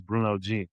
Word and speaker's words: Bruno Jean: If you're if you're coming, if you're Haitian or French, you're gonna say buo. That's how you say my name. But obviously, if you're speaking English, it's Bruno G.